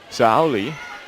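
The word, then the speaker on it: Saori: thanks you know a says the pronunciations s-a-o-r-i that's saturday kimura is sa ali so it's almost like a an l sound oh what a dig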